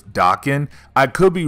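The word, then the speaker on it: Daken: out with his son Dakin or Dokken someone told me I mispronounced his name in the earlier videos we did of Dakin when he was dark Wolverine and I was told it was docking I could be wrong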